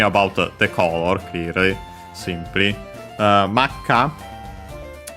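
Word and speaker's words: 真っ赤: Makka becomes accented on the last mora, so technically it could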